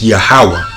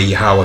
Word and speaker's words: Yahweh: Jehovah, but we know there were no J's in ancient Paleo Hebrew and there were no V's. It's Yahweh. And it's pronounced, when it's pronounced that way, Yahweh, that's called the ancient Hebrew.